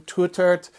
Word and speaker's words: Tuitert: to mangle his name Tut uh I'm told that's the proper pronunciation of his his Dutch name I'll probably mix it